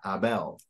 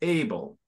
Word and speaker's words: Abel: very good so the the emphasis yes the emphasis emphasis is on the and the end so instead of Abel it's it's uh Abel whereas in English it's able and you pronounce that